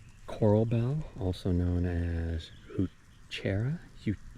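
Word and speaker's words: Heuchera: Um, this is the these are the this is the um, coral bell, also known as hutera huchera, I believe is how you pronounce it.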